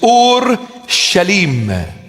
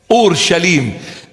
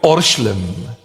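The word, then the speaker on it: ܐܘܪܫܠܡ: In Aramaic, the proper pronunciation of the word is Ur-Shalim. Ur-Shalim. And we abbreviate it and we call it Orshlim.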